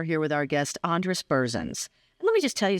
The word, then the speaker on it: Berzins: with our guest Andress bersin let me just tell you something your last name looking at your business card right now is spelled exactly how it sounds e e r z i ns bersin hard to believe it's